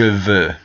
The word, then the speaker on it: veux: Je veux, I want to. Notice that the X is silent.